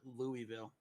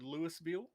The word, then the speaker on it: Louisville: guys say that and everybody that I know from around here calls it Louisville I've heard Lewisville and here's the thing when it comes to Louisville you can ask anyone in Louisville how it's pronounced and you're going to get three or four different pronunciations yeah exactly that's what